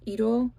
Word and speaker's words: Idôle: And then I have Idôle, which is idol, but in French it's Idôle.